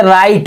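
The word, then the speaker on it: right: का उच्चारण नहीं हुआ जैसे राइट राइट में सही ये डायन आर आई जी ह टी राइट मेंस सही इसमें बीच में ghchaya जी ह का उच्चारण नहीं हुआ जैसे और कई मीनिंग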